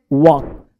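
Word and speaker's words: walk: वाक क्या पढ़ते हैं वाक तो यहां पे ध्यान देना है कि एल जो है वो साइलेंट होता है ठीक है पाम काम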